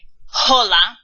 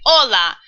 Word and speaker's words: hola: in Spanish oops like the word hola starts with an H but we don't say hola at least I hope you don't you say hola so actually H is